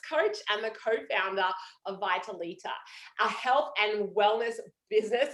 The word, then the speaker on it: Vitalita: to get pronunciation wrong it's actually vitality it's the italian word for vitality but yeah beautiful i'm